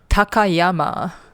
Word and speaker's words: Takayama: Takayyama.